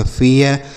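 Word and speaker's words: fair: ठीक है, जैसे पढ़ेंगे एफ से पढ़ेंगे फ, ए आई का उच्चारण क्या होगा, ए, तो इसे हम पढ़ेंगे फे, आर से रो, इसे पढ़ेंगे फेयर।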